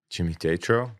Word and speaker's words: Jimmy Tatro: I'm gonna say that name wrong. Jimmy Tatro.